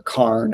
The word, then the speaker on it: cairn: And uh here we've got uh a cairn. Not like the Karen that threatens to call the manager, but a rock cairn or carn, I think sometimes they're pronounced.